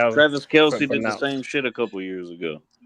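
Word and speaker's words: Kelce: That's literally how that's actually Travis Kelsey did the same a couple years ago. He said it's pronounced Kels, not Kelsey.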